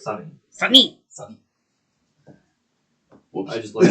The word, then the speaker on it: Sony: Well, technically it's supposed to be pronounced Sunny.